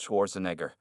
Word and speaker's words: Schwarzenegger: judge's mocking your honor he replied clearly it's pronounced Schwarzenegger and yes we do have property laws in